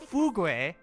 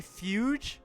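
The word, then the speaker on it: Fugue: It's not It's not Fugu, which would make a lot more sense, but it's actually Fuge. Her name is Fuge, which I really don't get why, but yeah, her name is apparently Fuge.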